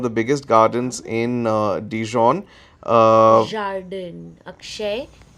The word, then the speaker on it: jardin: Jardin, Akshay. It's Jardin, not Jardin. Jardin. Yes. Right, I really can't get my French pronunciations right.